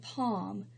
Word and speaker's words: palm: L is silent and palm the L is silent so we can look